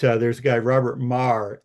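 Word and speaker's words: Magher: Uh um but uh there's a guy Robert Maher, M A G H E R. Yes, that's called Mar pronounced Mah, an Irish name wrote a book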